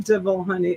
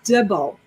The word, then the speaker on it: dibble: that and i said it's not devil honey it's dibble and then they had